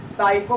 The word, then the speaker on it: psycho: अब हमने इसको क्या करना है, यहाँ से एस आई साई, और जानते हैं कि आप CHO साइको बोलते हैं, को का इसका उच्चारण आता है, तो ये हो गया साइको।